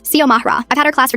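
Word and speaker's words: Xiomara: X I O M A R A. I get that it looks intimidating at first, but it's not rocket science. Sio Mahra.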